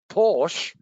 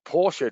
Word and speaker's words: Porsche: by microchip technology and there's a global shortage porsche or porsche depending on how you how you say it